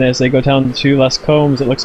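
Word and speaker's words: Les Combes: And also, just for for Anthony and for our viewers out there, a little French lesson: the S in Les Combs is silent. Les Combs, not Les Combs.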